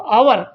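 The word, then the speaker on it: hour: तो आवर, तो इसका ये एज साइलेंट रहेगा, इसकी कोई ध्वनि नहीं निकलेगी, इसका साउंड नहीं निकलेगा एज का, तो इसकी आवाज आएगी आवर से।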